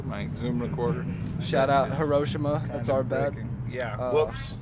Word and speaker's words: Hiroshima: whoops sorry experiment time is it Hiroshima or Hiroshima cuz I always grew up here in Hiroshima but then I heard Hiroshima was actually the correct pronunciation I think whoever was